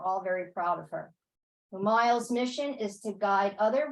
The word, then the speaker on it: Umayal: Did I pronounce that right? Yeah, Umayal. Umayal.